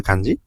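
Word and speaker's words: 花: তারপরে কাঞ্জিটা হচ্ছে হানা বা ফুলের কাঞ্জি। এটা অনের উচ্চারণ হচ্ছে কা বা কে, আর কুনের উচ্চারণ হচ্ছে হানা।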